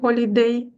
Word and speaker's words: holiday: buнес у відпустці on holiday Holiday треба вимовляти х бо французькій вона не читається я її не вимовляю on holid а от